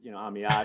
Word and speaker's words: Amiad: Also, we were talking a little bit before we recorded, but um, just having a difficult name to pronounce, Amiad. A lot of people, it's Amid or it's Ahmad. They can't get it, so I'm like, I'll just go by.